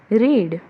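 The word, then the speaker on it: read: रीड, अभी रीड का spelling रीड ही है बट you have to remember कि उसको रीड नहीं बोलेंगे when it comes to past form. We will रीड, sorry we will say एज रेड।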